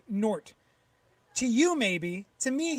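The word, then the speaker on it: Gnort: to let you know the g is silent in ganort so his name is just proud pronounced nort to you maybe to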